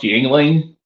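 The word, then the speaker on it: Yuengling: the bartender rolls his eyes and says it's pronounced yling oh okay well we don't get it I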